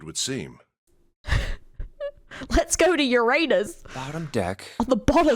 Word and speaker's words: Uranus: Okay, first of all, it's Uranus.